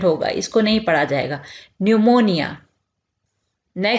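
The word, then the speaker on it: pneumonia: निमोनिया निमोनिया यहां पर पीछे जो है यह साइलेंट होगा इसको नहीं पढ़ा जाएगा न्यूमोनिया नए से जल्द की कोशिश डर्मेटाइटिस डर्मेटाइटिस है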